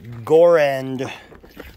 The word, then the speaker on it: Goerend: we can find here it is a gore-end product i think that's actually how you pronounce it so this is a